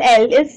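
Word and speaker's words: Lille: In French, I double L is silent. So it's Marseille. Toulouse. Li. Again, your I double L comes, so it means it's silent, so we just call it Li.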